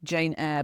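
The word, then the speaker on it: Jane Aire: She's called Jane Eyre, but it's spelled Aire.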